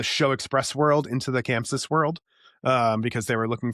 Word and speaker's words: ChamSys: And then we have ChamSys, Chamsys, I don't know how to say it right.